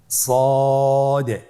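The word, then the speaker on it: صاد: সদ হরফটি পর হরফ। মোটা হরফ উচ্চারণ ক্ষেত্রে মোটা করে পড়তে হবে এবং উচ্চারণ করার সময় তিন আলিফ টেনে পড়তে হবে।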